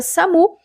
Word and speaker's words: SAMU: Então, se no teu estado tiver essa questão, eles cobrarem o significado da sigla SAMU, que a gente pronuncia SAMU, é Serviço de Atendimento Móvel de Urgência.